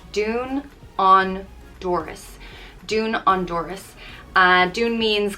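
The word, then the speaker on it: dún an doras: means close the door it's pronounced dune on doris dune honduras uh dune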